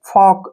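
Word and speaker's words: folk: ठीक है ना चौक जैसे फॉक इसको फॉल्क नहीं पढ़ेंगे फॉक ऐसे बिल्कुल रियल लगना चाहिए फॉक क्योंकि के से पहले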